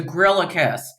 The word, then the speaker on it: Griliches: It's to grill a kiss. Like you're grilling a kiss.